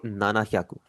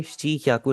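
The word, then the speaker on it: ななひゃく: 700 को आप बोलेंगे नाना क्याकू। कभी भी आपने इसे शीियाकू नहीं बोलना।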